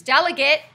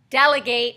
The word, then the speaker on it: delegate: is to delegate so there's two different pronunciations delegate your student council rep delegate when you tell other people what to do okay all